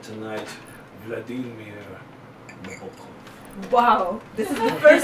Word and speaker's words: Nabokov: But that said, tonight, Vladimir Nabokov.